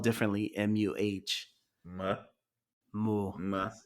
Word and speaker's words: Muh: MUH. Muh. Moo. Muh. It's pronounced the same, but spelled differently.